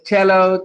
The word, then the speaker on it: cello: The spelling is E-double-L-O, but if you listen to the pronunciation, it's cello, cello, cello, cello.